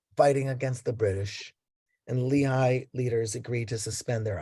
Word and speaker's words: Lehi: And Lehi sounds more like something the Mormons would have. In Hebrew, it's Lehi.